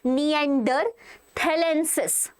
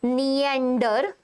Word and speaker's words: Neanderthalensis: basically, they were Homo Neander- It It is pronounced as Neanderthalensis, okay? What it is pronounced as? Neanderthalensis.